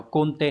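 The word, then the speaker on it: 根底: Từ này đọc là konte, Hán tự là căn và đẻ, có nghĩa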